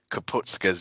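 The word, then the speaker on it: Kapustka: What really frustrates me is, if you just read it phonetically, the S clearly comes before the T, yet people insist on saying ska. It'll be STKA, not TSKA.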